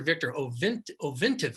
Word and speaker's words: Ovintiv: The other one I like, OVV, Oscar Victor Ovintiv, is how I pronounce it.